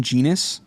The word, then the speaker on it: genus: And it's very special because it's in its own genus. Genus rhymes with penis.